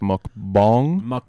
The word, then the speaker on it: mukbang: Because Hash wants you to know that it's actually pronounced mukbang. I'll smoke a Bong? mukbang on air live. It's actually a mukbang, brother.